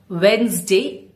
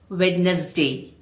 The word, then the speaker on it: Wednesday: It's Wednesday, not witness day.